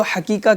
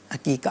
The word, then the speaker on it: عقیقہ: اور لوگ اس کو حقیقہ کہہ رہے ہوتے ہیں ہاں کے ساتھ تھوڑا، لیکن یہ عین کے ساتھ آتا ہے عقیقہ. صحیح ہے، صحیح ہے. یعنی تلفظات میں بھی کہیں نہ کہیں مسٹیکس ہو رہی ہوتی ہیں، تو یہ عین سے ہے، عقیقہ اسے کہا جاتا ہے.